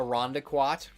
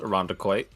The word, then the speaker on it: Irondequoit: my face hurts jesus christ like like a rhonda quat rhonda quad pronounced irondequoit we have a chili chili not lima a